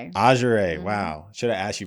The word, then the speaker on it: Azuraye: Azuraye, is that how you pronounce it? Azuraye. Azuraye, wow.